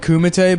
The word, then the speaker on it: kumite: __ ] they should call it kumite but it's spelled with a c yeah did i just